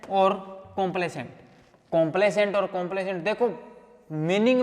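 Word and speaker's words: complaisant: होता है कंप्लेसेंट और कंप्लेसेंट कंप्लेसेंट और कंप्लेसेंट देखो मीनिंग में भी उतना ही फर्क है जितना स्पेलिंग में मैंने बोला प्रोनंसिएशन सेम है यह है सी ओ एम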